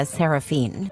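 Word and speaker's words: Seraphyne: Clare insists it's pronounced Malaya Saraphene, but she's adamant about keeping the creative spelling because normal names are boring and my daughter deserves to stand out.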